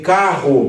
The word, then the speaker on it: carro: Agora quando você tem carro, por que há a duplicação do R? Porque o primeiro R é o fechamento da sílaba. Então ele vai fechar C-A-R, a primeira sílaba, e a outra é a sílaba aberta começando com R. E o som é R, mais forte, mais aspirado.